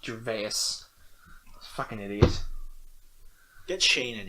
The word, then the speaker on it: Gervais: That's how it's spelled. Ricky Gervais.